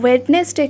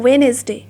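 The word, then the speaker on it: Wednesday: কিন্তু যখন বলবে তখন কিন্তু ডেজের নাম যখন বলবে তখন কিন্তু ওয়েডনেসডে কিন্তু বলবে না, এটার কারেক্ট প্রোনাউন্সিয়েশনটা হলো ওয়েনেসডে, ওয়েনেসডে, এটা কিন্তু বলবে ওয়েনেসডে।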